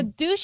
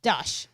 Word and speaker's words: douche: So douche is spelled D-O-U-C-H-E. Just saying. Because otherwise it says dush.